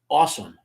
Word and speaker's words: Ahsam: To give you an idea, if you ever heard Bruce Lee's accent, the character's name is spelled Ahsam, right? But the way Bruce Lee would pronounce that, his name is Awesome.